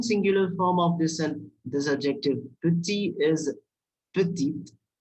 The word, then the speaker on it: petit: And feminine singular form of this adjective, petit, is petite. We are pronouncing this adjective petit because this last letter is silent in this.